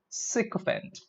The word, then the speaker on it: sycophant: the word for them it's not psycho it is sick event say as I see a fan sick of it she